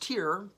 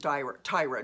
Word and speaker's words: Tyre: Now, Tyre could be pronounced Tyre, but I pronounce it Tyre, just like I pronounce Lyra.